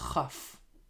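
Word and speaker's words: כ: Now, in this letter, whenever we have the dot inside it, it is pronounced as K, like K in English. K, kaf, with the dot. Without the dot, it is chaf, just like chet. Ch. The pronunciation is similar to the letter chet we just learned in the previous lesson. Ch, chaf, k, kaf.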